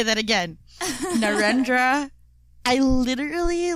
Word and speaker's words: Narendra: so in a photo essay by hmm narendra mmm let me say that again narendra i literally like googled how to pronounce these the the words and the names